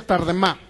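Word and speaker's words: תרדמה: Fíjense, la palabra sueño o letargo que viene ahí en Isaías 29:10 es la palabra hebrea tardemá, así como se pronuncia tardemá.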